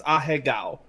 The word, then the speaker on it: Ahegao: Ahigo? What did Mike say? It's Ahegao. Yeah, see, he pronounced it like that. I pronounced it more American.